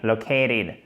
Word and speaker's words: located: grande majorité des cas, il se transforme presque en de. Located. OK? Donc, non seulement il y a l'accent tonique qui efface un peu, notamment la première partie du mot, mais en plus, vous avez un changement de consonne et vous dites, mais